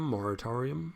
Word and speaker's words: moratorium: um we need to see a moratarian moratarium moratorium moratorium that's how you pronounce that on mortgages and loans and bills